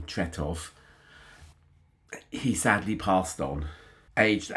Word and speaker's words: Tretow: Uh, I got a tweet from somebody saying that Mick Tutoto, who you will see on all the ABA record sleeves as Michael Brito, but I think you pronounce him Tutotov.